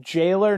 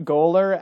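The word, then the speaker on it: gaoler: Which we established is pronounced jailer, not goaler, as like 15 people in the comments section told us.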